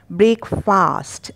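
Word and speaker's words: breakfast: ब्रेकफास्ट, अब ये नियम सिर्फ इसी पर नहीं लगाना है, आपको बहुत सारे शब्दों के पीछे जिनमें फास्ट लगा हो उसे फर्स्ट पढ़ेंगे आप।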